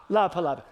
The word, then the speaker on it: La Palapa: Yesterday morning, Kevin and I were sitting at El Palapa. Did I say it right, Scott? Whatever. La Palapa. El Palapa. The Palapa or the La Palapa? El Palapa. Which one? La Palapa.